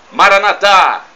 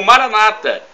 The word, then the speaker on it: Maranatha: eu clamo do aramaica Maranatha como dizemos nós católicos ou Maranata com a tônica na penúltima sílaba como dizem nossos irmãos separados os evangélicos ou protestantes mas não importa somos